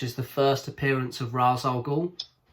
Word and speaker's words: Ra's al Ghul: Is it Ra's al Ghul? Yeah, am I pronouncing it right? Or Ra's al Ghul, however you want to pronounce it.